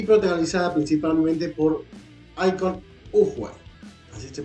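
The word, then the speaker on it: Iko Uwais: 2014 dirigida por Edward y protagonizada principalmente por icon ower así se pronuncia si hay por sí la primera entrega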